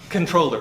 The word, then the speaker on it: comptroller: The original word is, it looks like comptroller, but that's not how you pronounce it because the word is French.